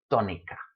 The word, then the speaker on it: tónica: It should be tónica, but it's not tónica, it's tónica. So there you go. Written accent mark, and when you see that word, oh yes, must pronounce it sílaba. Must pronounce it tónica.